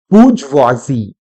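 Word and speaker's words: bourgeoisie: बोलना क्या है, तो करेक्ट प्रोनाउंसिएशन इज बूर्जवाजी, इसको कहते हैं बूर्जवाजी, ये इसकी करेक्ट प्रोनाउंसिएशन है। लेकिन भाई हम ठहरे भारतीय लोग, हम अपने तरीके से पढ़ना बेहतर समझते हैं, तो हम इसको कैसे पढ़ते हैं अपने नॉलेज के लिए, बूर्जवाजी ना बोलकर हम इसको बॉर्जियोस बोलते हैं।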